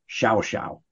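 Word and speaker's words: Llao Llao: incredibly upscale resort called shouse it's spelled l-l-a-o-l-l-a-o but down there in their Castellano Spanish it's pronounced Xiao Xiao during his presidency Dwight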